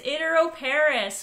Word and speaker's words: iteroparous: I don't know if I'm going to pronounce this properly. It's iteroparous reproduction. Is that right? You got it. It's iteroparous or iteroparity.